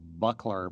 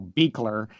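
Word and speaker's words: Buechler: I used to call him John Carl Buckler, but of course his name was John Be- Carl Beekler.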